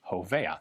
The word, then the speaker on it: Hova: Uh that was HVA which got just uh phoneticized into Hova.